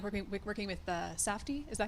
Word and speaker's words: Safdie: And what was it like working with Safdie? Is that how you pronounce those names?